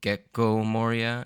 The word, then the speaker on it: Gecko Moria: with a different intonation there's like a a sort of a harsh pause in the middle instead of gecko it's gecko so I'm probably going to pronounce it still gecko Moria instead of gecko Moria